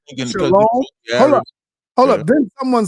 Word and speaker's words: shalom: broke it down you when you say shalom the O they inserted the Y for the o so when they're pronouncing it they put the Y sound separate but in actuality it's just Shalom even though the Y